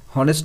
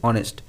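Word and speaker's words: honest: এখানে দেখো যে ওয়ার্ডটা রয়েছে শূন্যস্থানের পরে, এই ওয়ার্ডটা উচ্চারণটা ভাওয়েল প্রোনাউন্সিয়েশন দিয়ে শুরু হচ্ছে, অনেস্ট। হনেস্ট নয় কিন্তু অনেস্ট, তার জন্য এখানে অ্যান হয়েছে।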